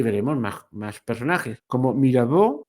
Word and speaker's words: Mirabeau: de eso hablaremos la semana que viene y veremos más más personajes como Mirabó, Mirabeau se escribe así, que era un tipo